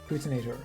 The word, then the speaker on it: Poutinator: Poutinator. Okay. This- I'm my native language is French, so pronounce the French one.